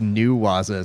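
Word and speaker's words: ne-waza: It's pronounced New Waza, said Melinda Cuevas.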